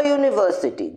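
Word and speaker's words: university: আ ইউনিভার্সিটি, যদিও ইউনিভার্সিটি শব্দটি ইউ দিয়ে শুরু হয়েছে কিন্তু এর উচ্চারণ হলো ইউ, কনসোনেন্ট সাউন্ড, তাই আমরা বলবো আ ইউনিভার্সিটি।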